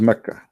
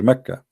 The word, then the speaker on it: Mecca: Sorry, for the people of Quraysh, they pronounce the letter Qa as Ka in such places, like in this case here, Mecca.